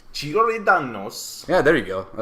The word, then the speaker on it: Giordano's: We went to, apparently it's pronounced Giordano's. Giordano's.